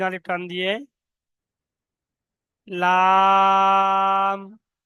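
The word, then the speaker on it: لام: লাম। লাম মানে উপরের সামনে দাঁত, দাঁতের গোড়া আর জিহ্বার আগা একসঙ্গে মিলিত হয়ে উচ্চারণ হবে।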